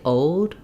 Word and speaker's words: old: a lot of um as you're connecting from the vowel to the L and from the L to the D old old you don't